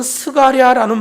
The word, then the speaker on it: 스가랴: 일을 배경으로 말씀하시는 거예요이 사가랴는 말은 히브리어 발음으로는 스가랴는 말이에요 역대 24장에 보면 제사장